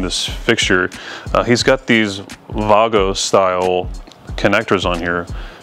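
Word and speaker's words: Wago: fixture he's got these Vago style connectors on here if you're American we usually pronounce it juego pretty sure it's avago if you're from from Germany where they're made but lever nuts right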